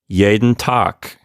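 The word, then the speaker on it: jeden Tag: of pronunciation notes here we have the yeah sound at the beginning for the letter j and also the d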